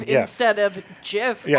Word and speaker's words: GIF: It's just soft G GIF, guys.